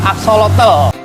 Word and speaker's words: axolotl: Jadi aksolot itu penulisannya agak susah dan sebenarnya ketika saya baca pengucapan yang benar itu adalah axolotl.